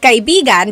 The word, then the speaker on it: kaibigan: Do you hear how I'm saying it? Kaibigan. Now, if I change the stress a little bit, if I say kaibigan, that means a lover.